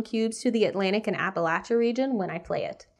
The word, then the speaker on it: Appalachia: record I'm from this region and it is pronounced Appalachia not Appalachia just so everyone knows that's how the locals